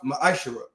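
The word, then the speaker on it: מעשר: chapter 3 verses 8-10 it means 10th in Hebrew and it's pronounced maishara ten percent of every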